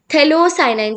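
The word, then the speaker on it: phthalocyanine: ठीक है, यहाँ पर आप देखो पी जो है वो साइलेंट है, पीएच इज साइलेंट, थैलोसाइनाइड जिसको बोलते हैं.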